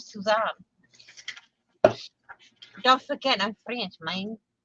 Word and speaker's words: Suzanne: Or Suzanne. Suzanne? That's how it's pronounced in French, Suzanne.